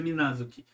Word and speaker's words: Minazuki: da palavra é mas a pronúncia de ambas é a mesma ambas a pronúncia a pronúncia minazuki o que muda é